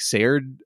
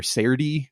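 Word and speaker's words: Serde: I'll also call out like Serd or Serdi, as different people pronounce it, is such a gem.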